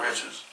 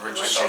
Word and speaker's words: Richardson: the young lady Sha'Carri Richards. Is it Richard? I think it's Richardson. Let me make sure I say her name correctly. She's Richardson. Yeah. Son, okay. Sha'Carri Richardson, I'm sorry.